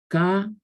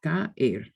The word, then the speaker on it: caer: What happens when you have strong vowels together is that they form their own syllables and they carry their own weight. They're pronounced totally and completely separately. Whereas we would combine the sounds in English, they're not combined in Spanish.